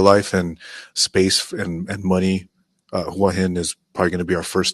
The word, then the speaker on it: Hua Hin: I'm excited because Sean's moving to a town in Thailand, and correct me if I'm wrong on the pronunciation, Sean. Hua Hin.